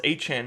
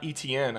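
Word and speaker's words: Etienne: I needed to get Bo Nix, but I got like Travis Achan, which I just realized his name is pronounced Achan, not Etn.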